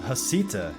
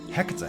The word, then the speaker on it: Heceta: pronounced Heceta Head by most, Heceta Head by others, yet many people agree Heceta Head is one of the most beautiful lighthouses in the world.